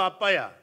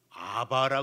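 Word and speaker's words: ἀββα: 요것을 우리 한국 사람들이 아바라 번역을 해 가지고 아바 아버지라고 이렇게 하는데 원래 바음 아빠야 그냥 발음 그렇게 해야 돼 왜냐면 베타가 두 개가 들어가거든요 아빠 그렇습니다 얼마나 큰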